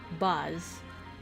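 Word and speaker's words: Boz: His name is spelled B-O-Z, Buzz.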